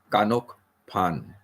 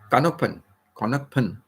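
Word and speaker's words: ขนมปัง: saying like you know bread bread is called kanok kanok pan kanok pan and if I say kanuk kanuk they don't understand what I'm saying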